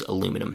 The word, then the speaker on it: aluminum: Can't say honestly about Australia, New Zealand, and other English-speaking countries, but here in the US, it is aluminum, not aluminium. Both are correct, though. Number 2, platinum, gold, and silver are called precious metals.